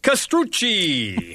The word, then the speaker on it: Castrucci: And good afternoon, Dean Roberts with Castrucci. How's my Italian? You did a very good pronunciation.